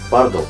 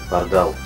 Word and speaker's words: Pardál: 7 Пардал, Пардал, в конце ударения, да, Пардал.